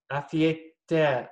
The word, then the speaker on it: afeita: Afeita. Afeita. All right. Entiendo, so, entiendo. Afeita. Afe. Afe. So practice your vowels. A-A-E-A. A-A-E-A. Afeita.